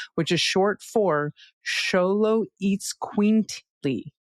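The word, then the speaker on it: Xoloitzcuintli: before but the Xolo breed of dog is pronounced Xolo which is short for Xolo eats quintly. Xolo eats quintly.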